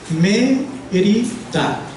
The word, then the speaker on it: Mérida: La primera sílaba es la sílaba fuerte, y a esa se le dice que es la sílaba que tiene el acento, es donde va acentuada, o sea, donde se pronuncia con mayor fuerza, es la primera sílaba.